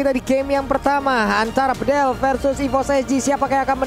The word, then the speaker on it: Bedel: Dari mahasiswa Turki, dia bilang, Bang Kornet bacanya bukan Bedel, jadi tapi E-nya dibaca semuanya E. Jadi Bedel.